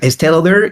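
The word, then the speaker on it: Estée Lauder: So we'll take a look at ST, if that's how one pronounces it. Yeah, Estee Lauder, it's like so they hosted, well, they're like the makeup brand.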